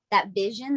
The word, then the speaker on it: Visio: So it's having that faith in yourself, and that vision that you put out.